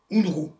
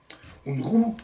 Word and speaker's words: Unruh: C'est l'effet Unruh.